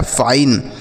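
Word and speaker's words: fine: उसी तरीके से F से लिखेंगे फ, आई का उच्चारण आई तो ये हो गया फाई, NE से 9 लिखा गया है फाइन।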